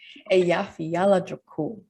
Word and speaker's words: Eyjafjallajökull: Eyjafjallajökull.